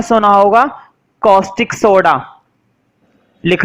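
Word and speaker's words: caustic: कॉस्टिक soda, इसको कुछ लोग कास्टिक सोडा बोलते हैं, कास्टिक सोडा, है ना? कास्टिक नहीं पढ़ेंगे वैसे, इसको पढ़ेंगे कॉस्टिक सोडा, ना?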